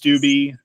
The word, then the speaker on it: Steube: The last name is pronounced Stwie. Uh if you spell it out, it's like st o b y is the best way to pronounce it.